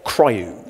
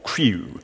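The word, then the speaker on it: CRIU: resume in user space or cryo or crew as some people try to pronounce it and the idea behind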